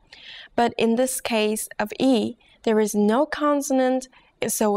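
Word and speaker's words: 이: consonant are you ready your first vowel is e e e this is pretty easy right practice writing this character as you say the pronunciation out loud as you say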